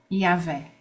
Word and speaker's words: Yahvé: Conforme a mitologia hebraica, eu não sei pronunciar esse nome, você sabe? Yahweh? Yahvé.